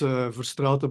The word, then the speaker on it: Verstraete: It's Verstraete, but also nobody can pronounce it.